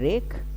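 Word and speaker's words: wreck: Number 14 आपका रेक। डब्ल्यू यहाँ पर साइलेंट कर लीजिएगा, ठीक है। रेक, यहाँ पर इसका जो अर्थ आपका निकलेगा नाश।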